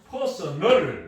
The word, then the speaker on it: personal: 발음을 유의해야 됩니다. 이 personnel은 액센트가 끝에 있습니다. personnel 인력이라는 뜻입니다. 인사과를 Department of Personnel이라고 하거든요. 그러나 사람의 person의 형용사형은 personal AL 붙이면 형용사형이 되거든요. 이러면 개인적인, 사적인 이런 뜻이 됩니다. 이거하고 다릅니다. 이때는 액센트가 맨 앞에 있어요. 발음에 유의해야 됩니다.